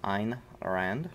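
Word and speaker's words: Ayn Rand: shrugged i was told that is the proper pronunciation was ein rand so of course very good stuff there but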